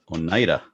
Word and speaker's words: Oneida: He's in Oneida Lake. Oneida. Whatever. It's all good. Tomato, tomato. I'm just saying it's one of the few things I could pronounce right in this state because everything's Indian names.